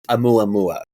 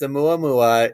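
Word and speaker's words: ʻOumuamua: So, you'll remember a few years ago that there was a lot of hubbub about a mua mua. That's how you pronounce it.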